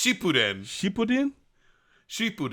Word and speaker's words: Shippuden: is that you say sh putin man i'm watching shipputin right now wait how do you say it is it not it's it's no it's shippuden she put in she